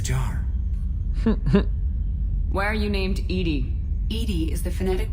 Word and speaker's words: EDI: airlock is a jar why are you named Edy Ed is the phonetic pronunciation of Eed that is an acronym for